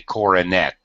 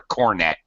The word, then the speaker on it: cornet: Well, many people, when they're trying to pronounce the horn, pronounce it with an extra syllable. They say coronet, which Coronet.